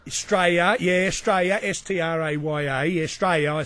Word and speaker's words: Straya: That's if you come to Australia, you must, if you want to fit in, you must pronounce the name of Australia properly, and that is Straya.